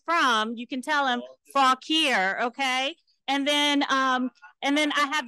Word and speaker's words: Fauquier: You know, so when people ask you where you're from, you can tell them Fauquier.